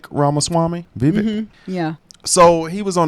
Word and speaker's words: Vivek: it cuz there's so um how do you pronounce that is it Vivic ramaswami Vivic yeah so he was on The Breakfast Club